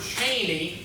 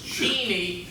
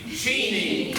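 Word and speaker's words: Cheney: set in Kansas and the way to pronounce the town where it is partially set is teeny Kansas it looks like the spelling of the word Chaney CHD and ey but it is Jeanie Kansas everybody repeat after me Seany and I cannot tell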